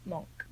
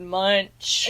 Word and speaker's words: Munch: By Edvard Munch? Monk. Yes. Monk. I didn't know it was pronounced that way. We've all been pronouncing it wrong, America. Well, we were all like, Edvard Munch.